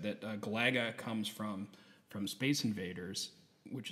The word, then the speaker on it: Galaga: those are good, definitely good taste because, like I said, that Galaga comes from Space Invaders, which is like one